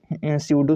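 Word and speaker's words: pseudo: ये P silent होता है, आप इसे पेस्यूडो नहीं पढ़ सकते, ठीक है, ये पी साइलेंट होता है। तो इसीलिए कभी कभी इनको हम स्यूडो सॉलिड्स भी पढ़ सकते हैं या फिर सुपर कूल्ड लिक्विड्स भी पढ़ सकते हैं।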